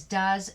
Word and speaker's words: does: found in writing is does and dos does g-o-e-s is a verb it's always a verb and it rhymes with fuzz he does not come